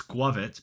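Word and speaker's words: Squawkabilly: Squavit, because that is how you pronounce the name. It is Squirrel plus Covet, so it becomes Squavit.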